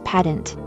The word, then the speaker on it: pedant: The word to use is pedant. The interesting part is that it has two pronunciations.